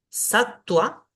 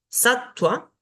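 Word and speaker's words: sattva: un sonido largo yoga la Va que si está después de una consonante va a sonar como u satua satua también después de la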